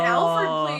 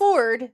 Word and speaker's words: Alford: Oh, an Alford plea. And it's That's Alford, not Alford. Alfred. I had been saying it wrong for many years, even though I knew what it was.